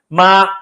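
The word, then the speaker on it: 妈: But ma yeah. with a high pitched tone is mother.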